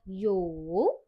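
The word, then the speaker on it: 有: Hal di kata yang kedua ada kata yo. Yo nadanya tiga dengan arti ada atau punya.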